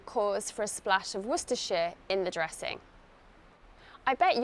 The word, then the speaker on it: Worcestershire: to my marinade for extra flavor Claudia visited wor share during her trip to England the recipe calls for a splash of Worcester share in the dressing I bet you're surprised to learn how to pronounce werer correctly croquet croquet croquet is a lawn game